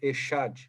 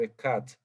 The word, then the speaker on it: Echad: No hebraico, Echad, ou Ekad, né, numa pronúncia mais original. Então, a gente pode perceber